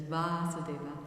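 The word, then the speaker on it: Vāsudeva: explained why so there's vasudeva with short a which is the consciousness in which krishna appears and then there's vasudeva which is krishna in pure devotional service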